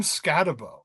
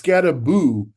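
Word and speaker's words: Skattebo: Um, Also, who the fuck is Cam Scatabo?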